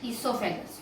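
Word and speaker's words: oesophagus: उसके बाद आपने फूड पाइप का नाम सुना हुआ है, अपने गर्दन के अंदर होती है फूड पाइप, इसको बोलते हैं ईसोफेगस, ओ इसमें साइलेंट है, ईसोफेगस।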